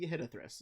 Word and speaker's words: Yehidithris: Yeah, It there's is- no phonetic pronunciation of this guy, so we're gonna say Yehidithris is what it is.